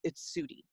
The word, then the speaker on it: Sudie: Just being able to say, hey, I know you found my name hard to pronounce, but it's Sudie.